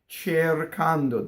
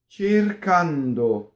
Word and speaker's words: cercando: The reason for that is we don't want the first syllable to rhyme with chair in English, right? Cercando, that's what English speakers will do. It's che, E, A, O. Cercando.